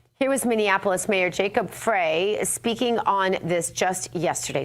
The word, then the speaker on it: Frey: Okay, look, the name is spelled F R E Y. That's like Frey. Frey is what is ancillary and doesn't matter. So, free fry fro from I'm just going to say Frey.